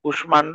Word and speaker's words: কুষ্মাণ্ড: এর সাথে যে মটা আছে, এই মটা কি হবে, মটার উচ্চারণ হবে, মটা বেনি হয়ে যাবে না। এই জন্য কোষ্ঠের কু তালবস্য, তারপর ময়কার মা, ন ডয়কার ড, কুষ্মাণ্ড এভাবে আছে, মানে ম মাঝখানে থাকলে উচ্চারণ হচ্ছে।